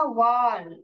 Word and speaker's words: vowel: Team है, वाउल दो वाउल है। ओके, वाउल नहीं बोलने का, वाल वाल ऐसे बोलने का, इसलिए आपको मैं दोनों प्रोनाउंस करके बताती हूँ, क्योंकि बहुत लोग इसको वाउल वाउल ही बोलते हैं, तो इसको वाल, इसमें